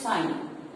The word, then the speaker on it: sin: So sine theta can be written as sine theta. Its pronunciation is same, but in the spelling, we don't write sine, we write sin, sine theta, the acute angle about which we talk.